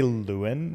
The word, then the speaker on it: Leeuwen: pronounce my last name I say Lewin Lewin which is phonetically not how it is but that's just kind